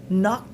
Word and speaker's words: knock: Faites attention, ces mots ont certes la lettre K, mais le K est mu knock the door.